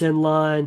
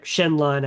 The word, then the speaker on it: Shenline: But you put on some duplicit hats, you can snooze Zenline, Mm. Shenline, I think. I keep saying Zenline because that's how it's spelled.